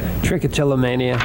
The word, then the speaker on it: Trichotillomania: Trichotillomania.